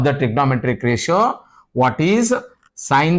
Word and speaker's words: sine: Read it and don't read it as sin. Bhala huduguru sin anta odtiri. Sin anta odbaraadu. Actually, is the SINE. You have to pronounce it as sine C.